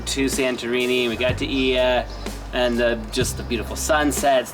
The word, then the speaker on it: Oia: It's spelled O-I-A, Oia.